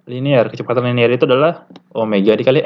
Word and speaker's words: Omega: dengan rumus berikut nah Omega ini bacanya Omega ya lambang mirip W tapi bukan W ini Omega Omega ini adalah